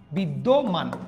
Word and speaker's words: বিদ্যমান: তাহলে উচ্চারণ হচ্ছে না, দ্বিতীয় উচ্চারণ হচ্ছে যে মান, বিদ্যমান।